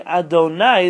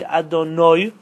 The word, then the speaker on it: Adonai: And therefore Ashkenazim, when they say Adonai, they say Adonoi, right? Right? Noi is only about Hashem, and nai is about man. It's a different pronunciation.